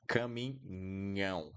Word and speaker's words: caminhão: Truck in Portuguese is caminhão. So we have NH and that nasal A.